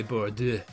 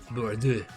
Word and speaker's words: Bordeaux: I should say Bordeaux because that's how it's pronounced. Bordeaux.